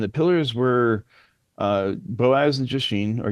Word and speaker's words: Jachin: And the pillars were Boaz and Jashin, or Yakin, as it's properly pronounced.